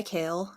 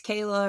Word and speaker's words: Kayle: little kid um it's it's spelled like it's spelled k-a-y-l-e so a lot of people think it's Kayla or Kaylee for some reason so I just wanted to make sure everybody knows that I'm kale um I live in